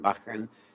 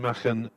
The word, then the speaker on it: Machen: Going back to your cricket club, and Derbyshire listeners might like to hear me pronounce it, Machen, M-A-C-H-E-N.